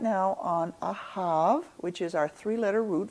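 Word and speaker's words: אהב: That can be, it's a bet, but it can be pronounced either as a bet or a vet. All right, and I'm saying ahav, so I'm calling it not a bet, but a vet.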